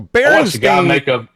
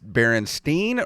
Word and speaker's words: Berenstain: Is it Berenstain or Berenstein? And I remember her saying it was Berenstein.